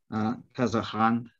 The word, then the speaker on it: Kazaghand: So in his book, and I'll flick to the index, and I'm using the Arabic pronunciation here because this is an Arabic book, Kazaghand.